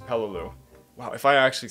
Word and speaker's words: Peleliu: I'm not taking sludge it's not hello Lulu its Peleliu pronounced Peleliu Wow if I actually